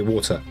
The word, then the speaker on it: water: So, we say water. We actually pronounce the T down here.